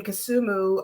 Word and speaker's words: Kisumu: she has established um and a library in kusumu uh am I saying that right that is correct pronounce it like you're from there that's right